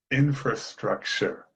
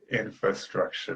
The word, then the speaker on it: infrastructure: In this case, document as a verb, infrastructure. You, I'm I am pronouncing the R there after F, but you can also just say infrastructure. That's okay too.